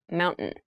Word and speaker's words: mountain: you pronounce this word in fast speech it sounds like mountain the t sound is reduced the little town was